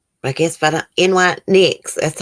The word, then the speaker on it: NYX: I guess if I don't, NYX, that's how you say it, Susan.